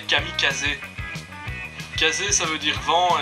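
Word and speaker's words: kamikaze: c'est japonais Mo et kamikaz kamikaz c'est du japonais sauf que normalement il faut prononcer kamikazé casé ça veut dire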